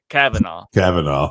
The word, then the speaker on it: Kavanagh: I already forgot how to pronounce it. Kavanagh. Lonnie Kavanagh.